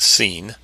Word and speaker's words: Sin: Sin H5512, pronounced Sin, is spelled Samekh Yod Nun.